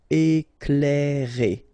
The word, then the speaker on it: éclairer: Okay, C and L together, you will pronounce this cl, cl. Éclairer.